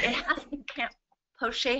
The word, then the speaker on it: Plauche: Poche has to be pronounced that way because it's French.